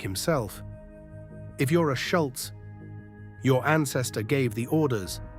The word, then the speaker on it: Schulz: Schultz.